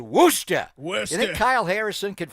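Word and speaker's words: Worcester: It's not pronounced Warchester. It is Worooster.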